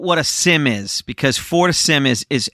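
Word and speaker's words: FortiSIEM: a Sim is because for Sim is is f o r t i s i m and we pronounced that last part SIM for to sim even though it's got an e in it yeah so Al alth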